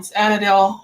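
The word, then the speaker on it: andouille: peel the sausage um anadil anid sausage I think it's supposed to be anad and people pronounce it anadil but I mean this is Texas we mispronounce everything and you mispronounce all of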